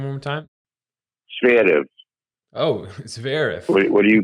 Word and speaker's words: Zverev: Can you pronounce that last name one more time? Zverev.